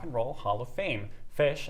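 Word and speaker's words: Phish: Roll Hall of Fame fish and that's fish spelled with a pH is nominated to receive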